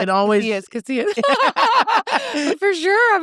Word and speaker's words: Casillas: Casillas, it's fine. I was like, it's silent.